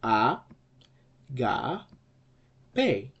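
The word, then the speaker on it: ἀγάπη: first syllable here and an acute accent over the penult, the middle syllable here, and then the last syllable just normal. So the right pronunciation of this word will be what? Well, it will be agape.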